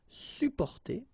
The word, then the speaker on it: supporter: You can also add this sup in front of porter, supporter, supporter. You don't really pronounce the two or the double p here.